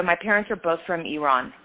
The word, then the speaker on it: Iran: So my parents are both from Iran, so Iran, but pronounced Iran correctly.